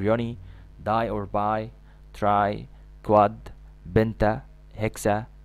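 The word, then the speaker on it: quad: 4 في 5 وقبلها 1 تبقى 4، كواد تنطق كواد او كوادرسبس مثلا اللي هي زي عضلة الكوادرسبس اللي هي عضلة رباعية الرؤوس.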